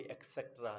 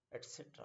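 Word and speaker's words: et cetera: तो एड ऑन करने के लिए हम एटसेट्रा जोड़ते हैं, तो this will not बी एक्सेट्रा, this is एटसेट्रा होता है.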